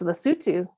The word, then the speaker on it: Lesotho: And she is currently in the country of Lesotho. Did I pronounce that correctly? It's Lesotho.